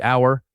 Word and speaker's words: hour: Same silent H pattern. It sounds like hour, exactly like the word for possession.